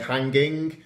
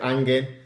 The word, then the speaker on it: hanging: but we pronounce it usually we don't pronounce the H and we don't pronounce their last G of the word so we don't say hanging we say anger it's an game it